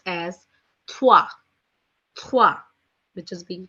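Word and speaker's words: trois: being written down as t-r-o-i-s which is being pronounced as thwa which is being pronounced as thwa four in French is being written down as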